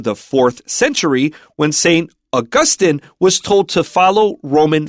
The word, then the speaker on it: Augustine: We're talking about the actual saint who has a Latin name and that would be pronounced Augustine like the month August. So it's not Augustine.